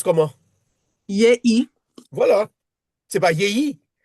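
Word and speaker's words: יְהִי: Yé, yé, yéhi. Yé, non, pas yéyi. Je sais pas. Non, non, il faut dire yé.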